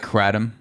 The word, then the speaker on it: kratom: on me i mean you got two syllables the the second syllable is definitely tom you know adam so i i have a problem with pronouncing the first syllable as cray because it's k k r a um i mean honestly